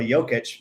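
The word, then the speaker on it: Jokić: basketball related is Nikola jokic they call Joker because they don't know how to say jokic that's annoying and seen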